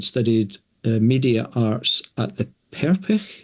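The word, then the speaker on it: Perpich: Um, previously Jillian had studied media arts at the Peric Center. I'm pronouncing that right? Perich center for arts education and cinematography and fine art at Minneapolis College.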